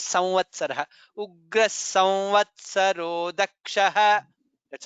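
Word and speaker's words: संवत्सरः: I mean, while it is while pronouncing, most people also say samvatsaraha. Samvatsara. It is correct also. Doing the right pronunciation is samvatsaraha.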